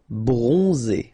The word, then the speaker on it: bronzé: So O-N, on, and then Z. It's really pronounced like Z. Bronzé.